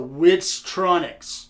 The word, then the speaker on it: Witztronics: So Witztronics, let me spell that for you because I'm dumb as shit. W-I-T, Wit, Z, got the Z, Tronics. For all you that aren't hooked on phonics, it is Tronics.